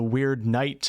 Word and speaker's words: Wyrdnight: And the last category for this November update is the Wyrdnight. I'm really working on my pronunciation of weirdness and Wyrdnight. It's like, it's not weird, but it's not word. It's in between both of them.